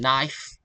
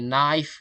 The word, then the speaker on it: knife: For example is uh L in calm, K in knife. learners try to pronounce them calm. Like in calm, the L is silent and for the knife K is silent.